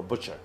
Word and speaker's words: butcher: So this is, we're talking about a qasab or a butcher. So you pronounce it B-U, the spell is B-U-T. T is silent, okay? You say butcher.